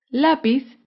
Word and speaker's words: lápiz: es la palabra lápiz lápiz es una palabra grave porque se acentúa en la penúltima sílaba lápiz un ejemplo de